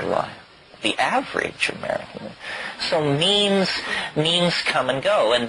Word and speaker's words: meme: last year about about means you know what means our means are the smallest units of a concept and they're like genes the word is deliberately constructed to rip to rhyme with gene and so when I